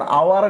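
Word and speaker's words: hour: কথা, কিন্তু আমরা যখন আওয়ার লিখি আওয়ার, তখন এ হয় নাকি এন হয়? অবশ্যই এন হয়। কেন? কারণ এই যে এইচ এর উচ্চারণটা হয় না, এইচ থাকা সত্ত্বেও এ বসে না, কি বসে?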